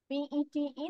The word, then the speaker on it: Pete: P-E-T-E, the pronunciation will be Pete, not Pete বা P-T, এভাবে না, উচ্চারণ হবে Pete.